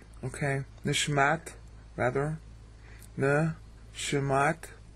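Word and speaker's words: נשמת: It's the little double dots over what looks like a W there, that's a sheen. That means you hurry up to get to the next syllable. It's called a shua. Sometimes it's silent, but you still hurry up.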